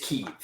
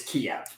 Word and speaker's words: Kyiv: So, the city name in Ukraine, pronounced by Ukrainians, is Kyiv. Oh, interesting. The city name pronounced by Russians is Kiev.